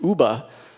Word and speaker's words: Yuba: a niche Nam word which comes and they pronounced it Ubah and it's it was a name that they